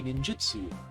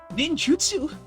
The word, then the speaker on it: ninjutsu: I Wow, that sounds so wrong. pronouncing it not like how it's supposed to be pronounced just cuz I was putting on an accent for this character. But njutsu, I guess.